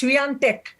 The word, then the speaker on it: Swiatek: Since this is a global program, you have to get the pronunciation right. It's Swiatek.